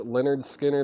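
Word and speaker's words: Lynyrd Skynyrd: we have in here Leonard skinnard pronounced Leonard Skinner that's new and sealed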